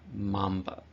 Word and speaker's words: mamba: nickname is the Black Mamba so a Mamba not man but many times students would uh pronounce this wrong in it is mamba all right this one